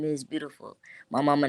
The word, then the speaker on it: B3autiful: that on all platforms beautiful my name be the number three a-u-t-i-f-u-l you have to spell it like that and then no control